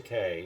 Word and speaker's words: Takei: Yeah, Takei, yes. I think he's done something online where he says it rhymes with gay.